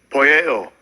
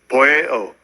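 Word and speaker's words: ποιέω: And I'll let Esau give the pronunciation. Strong's G 4160. Poieo. Poieo.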